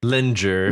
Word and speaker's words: linger: Linger. Yeah. Lot like ginger, but it's linger.